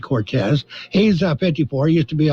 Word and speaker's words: Cortese: we have a dan cortese when his name is spelled cortese but pronounces it cortez he's 54 used to